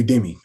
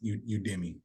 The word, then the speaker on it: Udemy: it's called udemy U UD Demi I'm probably saying it wrong myself uh UD Demi y'all might have to excuse my language there but it's called udmi I think it's actually pronounced udmi but I would leverage